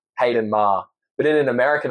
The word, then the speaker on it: Maher: Why is it pronounced that way? I thought it was I say that in an American accent. Okay, I thought it was Maher. No, it is. Look, in an Australian accent, Hayden Maher.